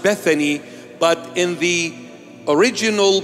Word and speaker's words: Bethany: called Bethania or Bethany in English it is pronounced Bethany but in the original